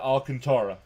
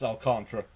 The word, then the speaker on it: Alcantara: I pronounce it Alcantara, but it's actually pronounced Alcantra.